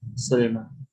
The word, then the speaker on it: Sulma: Ini Sulma bacanya bukan bin Abi Salma, bin Abi Sulma.